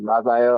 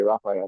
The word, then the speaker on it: Rafael: Excuse me, Rafael. I always say Rafael, but I'm pretty sure he pronounces it like that.